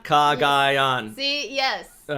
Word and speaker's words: Cagayan: Cagayan. Oh, it's how you pronounce it. Oh, God. Excuse me. That's how you do it. I've been saying Cagayan. Cagayan.